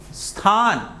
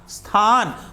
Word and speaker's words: स्थान: सभी लिखित ध्वनियों का उच्चारण होता है, मतलब आप सोचो जरा, इसको पढ़ेंगे। स्थान, देखो आधा स भी आपने पढ़ा, स्थान, फाल्गुन, फाल्गुन पढ़ेंगे नहीं, सब ध्वनियां आपके कान में जा रही है, फाल्गुन।